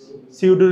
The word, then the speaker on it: pseudo: সিউডো relative pronoun, বা কেউ কেউ সুডো রিলেটিভ প্রোনাউনও বলে। একই, তুমি যাই উচ্চারণ করো না কেন, সেম।